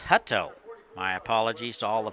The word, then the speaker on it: Hutto: Just heard from my technical department that is pronounced Hutto.